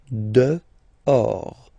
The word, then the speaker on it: dehors: Okay, so remember final S not pronounced, and then this H in French doesn't exist phonetically, so you don't pronounce it. Dehors.